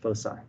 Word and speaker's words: foci: it foe okay so you pronounce that c with an s foci that just indicates that